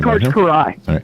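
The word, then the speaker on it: Kiraly: Jordan of pro beach volleyball it's it's it's Karai is that how you say it K Karai Karai okay yeah yeah C Karai k i r a l y so there you go just tell you Karai it's it's pronounced K yeah the oldest flight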